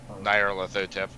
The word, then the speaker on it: Nyarlathotep: Nyarlathotep.